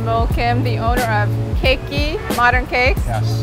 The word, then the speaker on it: Keki: This morning with my friend Moul Kim, the owner of Keki, Modern Cakes. Yes. Did I say it right? Yes, okay. It's Keki.